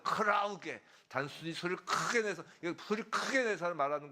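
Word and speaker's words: κραυγή: 자, 떠드는 것은 헬라어로 크라우게예요. 이 발음이 비슷하죠. 크라우게.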